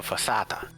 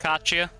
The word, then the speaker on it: focaccia: The crust is light and similar to a fossata. I completely mispronounced that. Focaccia? Focaccia. I think, yes. based on your mispronunciation, I believe you were trying to say focaccia.